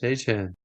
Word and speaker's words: Etienne: It doesn't look like Etienne, but apparently Travis told everyone it's pronounced Etienne.